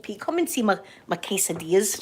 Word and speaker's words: quesadilla: Quesadillas, quesadilla. Yeah, quesadilla, I'm saying it right, quesadilla.